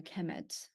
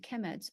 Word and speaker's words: Kemet: uh they will be the noun will be pronounced a Kemet so so uh Egyptians